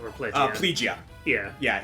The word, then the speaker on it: Plegia: they frame it so well is like uh plagia or PL plegia yeah yeah it's actually pronounced pretty plegia from what I to understand but like yeah